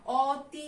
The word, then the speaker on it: অতি: একইভাবে দেখো দেয়া আছে হচ্ছে অতি, আমরা এটার উচ্চারণ স্বরেও দিয়ে করি না, অতি আমরা কিন্তু করি না, এটার উচ্চারণ করি আমরা অতি।